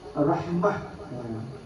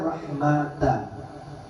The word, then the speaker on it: rahmah: Kalau waqaf baca rahmah, kalau diwasal baca rahmata, baca dengan ta. Najib Hafaz ittifaq keduanya atau baca dia dengan tak kala waqaf dengan ta. Jadi kalau diwakaf ada dua cara baca, rahmah dia, rahmat dia. Ta-nya boleh dibaca ha, boleh dibaca ta.